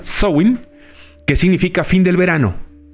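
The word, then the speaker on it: Samhain: un antiguo festival celta conocido como sowing así se pronuncia show in que significa fin del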